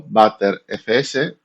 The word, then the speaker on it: Btrfs: BTRFS, a veces pronunciada como Bter FS por su semejanza en inglés es un sistema de archivos moderno de tipo copy WR diseñado específicamente para Linux.